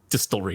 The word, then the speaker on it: distillery: I'm sorry you know we keep saying it wrong it's distillery distillery dist there's no there's no vowels distry because that's cool that's